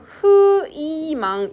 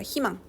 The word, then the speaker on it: 희망: 갖고 있으면 2로 발음해요 대표적인 예시가 희망 자 여기 보시면 여기 첫소리에 자음 들어가 있지 그치 저거를 흐이망 이렇게 있는 사람이 있어 없죠 이렇게 들어가면 키로 읽습니다 희망 닐리리 무늬 c형 그치